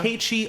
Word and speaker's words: Nkechi: Nkechi. Exactly, yeah. Okay, Yeah. Nkechi. Mm-hmm. And then my last name is just. Like Irish, but not Irish, right? Yeah, like, yeah. Nkechi.